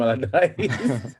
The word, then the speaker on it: Allardyce: pronounce it? Sam Allardyce.